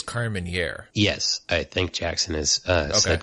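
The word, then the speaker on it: Carménère: speaking of pronunciations and Carmen Ari I think that we've been saying it wrong I think it's Carmen here yes I think Jackson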